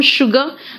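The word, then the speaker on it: sugar: सिर्फ पूरे इंग्लिश में सिर्फ एक शब्द है जहां पे एस यू है लेकिन प्रोनाउंसिएशन शू हो रहा है, शुगर। तो टीचर ने कहा आर यू श्योर देखो टीचर ने क्या कहा, आर यू श्योर।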